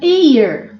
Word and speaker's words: heir: An heir, um herdeiro, an heir, um herdeiro. Então, são palavras que o H não tem som, então eu coloco an.